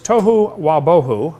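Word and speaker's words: תֹהוּ וָבֹהוּ: a huge thing right the wow pronunciation of the letter of of is the reconstructed version of what that letter probably represented when the biblical texts were being written it probably was a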